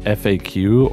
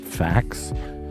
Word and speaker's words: FAQ: whether they pronounce it FAQ or they say it facts and I think anyone who says it facts is lying to themselves because it's an abbreviation so you're supposed to say the letters it is an FAQ